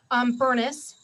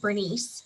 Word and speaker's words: Burness: up it says miss burness i know most people pronounce it bernice but in my family it's furnace this is bernice ashton